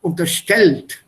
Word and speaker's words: unterstellt: Stress the second syllable. Unterstellt.